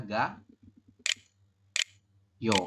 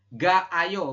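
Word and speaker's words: 가요: Kalau kita bikin jadi kalimat informal, maka jadinya adalah ga yo, langsung seperti ini ya. Maka perubahannya maka langsung jadi gayo kayak gini. Digabung ya. Jadi bukan ga ayo, bukan, tapi langsung gayo.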